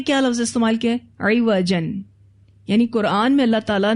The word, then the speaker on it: عوج: سے ہی نظر آئے۔ اسپیلنگ آپ دیکھیے تو عین کے نیچے زیر ہے۔ عوج ایسے ٹیڑھپن کو کہتے ہیں جو بصیرت سے ہی نظر آئے۔ عوج کہتے ہیں عین کے اوپر زبر، ایسا نقص جو ظاہری آنکھوں